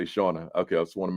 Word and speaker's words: Shauna: So my question to you, Shauna, am I pronouncing your first name correctly when I say Shauna?